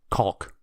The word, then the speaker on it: caulk: I don't think so it's caulk your your over accenting the L because it makes you uncomfortable to pronounce a quick out caulk yeah your that's a you're really stretching out that L why they throw a silent L into the word that's how it's pronounced it's pronounced different in England but the American version is called hmm well said of